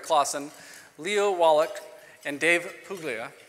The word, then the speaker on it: Puglia: Our panelists this morning are Rick Clausen, Leo Wallach, and Dave Puglia. I tried to say that right, it's the soft G.